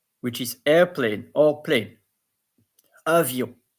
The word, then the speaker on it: avion: Then avion, which is airplane or plane. Avion. And the O-N, yon.